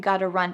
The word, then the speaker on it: gotta: And a quick little pronunciation tip is that in American English, a T that is surrounded by vowels often changes to a D sound. So listen carefully when I say that phrase. If I say, oh, it's already 6 o'clock, I gotta run. Gotta run. It's exactly like a D sound.